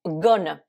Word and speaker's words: gonna: Maintenant, voyons gonna, qu'on écrit G-O-2-N-E-A. Là aussi, vous avez le son schwa en deuxième syllabe et parfois même, selon les accents, en première syllabe aussi. Gonna.